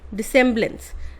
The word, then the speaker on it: dissemblance: बैलेंस नहीं होता है, डिसेम्बलेंस होता है, ठीक है। DISSEMBLANCE, डिसेम्बलेंस, ठीक है।